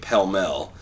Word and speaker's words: Pall Mall: a butler they also as they pronounce them in the UK pell-mell just here in the US are called Pall Mall but the thing I